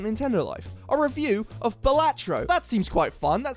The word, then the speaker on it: Balatro: and I type in batro I spell it right right I don't say baloro or baloro or Balo I spell batro which is the actual way you spell it and you know